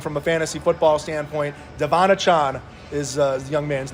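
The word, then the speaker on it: De'Von Achane: and in their program in Miami it says Devon a chain and that's how you pronounce it but after the kids scored four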